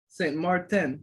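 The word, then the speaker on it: Saint Martin: Janeel Adams from St. Marteen, is that how you say it, bro? St. Marteen? St. Martin. Is it Martin?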